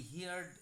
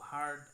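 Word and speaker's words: heard: দুইটা ফম অনেকেই বলি হিয়ারড হিয়ারড কিন্তু ওই দুইটা উচ্চারণ আমরা হিয়ার হিয়ারড না বলে বলব হার্ড হার্ড হিয়ারড হার্ড হার্ড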